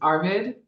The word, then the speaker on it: Arvid: the name wrong is Arvid yes hello you actually pronounced it perfectly thank you all right